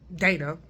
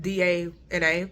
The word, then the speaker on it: Dana: has an older sister named Dana that's how you pronounce that d-a-n-a Dana yeah uh that's so